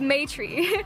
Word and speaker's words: Maitri: Maitri is spelled M-A-I-T-R-I, yeah, Maitri.